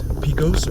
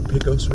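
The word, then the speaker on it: Pecos: this light up here is Picos or Picos Road depending upon how you pronounce it I've heard both ways I've had comments in the comment section tell me both ways I will say it both ways for everyone the over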